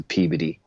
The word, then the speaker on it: Peabody: And they're like, dude, no one goes to Peabody. And I was like, how does it pronounced Peabody when it looks like the word Peabody? He's like, it's Boston, man. That's how we talk up here.